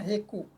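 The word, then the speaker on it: Hegu: ini lagi saraf Iya tulisannya h e h g ugu bacanya heku nah cara penusukannya sederhana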